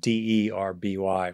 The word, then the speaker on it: Derby: esteemed scholar, University of Derby, I believe, spelled D-E-R-B-Y, pronounced Derby, and who's the founder of Compassion-Focused Therapy and the Compassionate Mind Foundation.